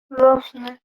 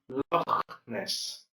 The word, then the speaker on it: Loch Ness: Jenny visits Lochner. Huh? So Jenny visited, okay, this is pronounced Loch Ness, right?